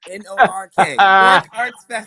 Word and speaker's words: Newark: And I know you're a local because you pronounce it like a local, Newark, as opposed to I do. Newark. NORK.